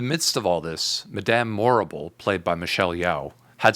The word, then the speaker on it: Morrible: You see there how Morrible rhymes with horrible was manipulating Glinda, telling her to do some good.